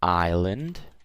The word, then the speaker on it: island: And then we have island, okay? S is silent.